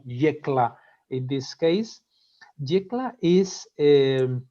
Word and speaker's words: Yecla: well the the place the location is uh jekla we pronounce it like that like yellow yekla in this case decla